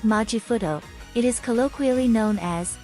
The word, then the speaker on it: マジフト: The word majifuto comes from magical shift itself which, in katakana, the Japanese alphabet for foreign loanwords, is pronounced magical shift. To shorten it, the characters take the first and last two sounds and combine them into one word, majifuto.